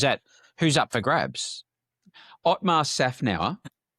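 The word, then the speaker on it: Otmar Szafnauer: Otmar Safnau.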